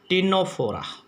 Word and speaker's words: Ctenophora: तीसरा हमने बताया था आपको टीनोफोरा। तीसरा ग्रुप बताया था बच्चों, इसमें भी सी साइलेंट है, CTENOPHORA, टीनोफोरा।